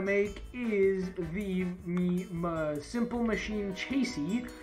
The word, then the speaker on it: chassis: The next thing you're going to want to make is the simple machine chassis. I found out that the third S is silent.